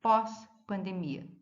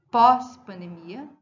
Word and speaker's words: pós-pandemia: Ó, pós-pandemia, pré-escolar, pró-vida. Perceberam? Tanto pós como pré como pró são fortes, eles são tônicos.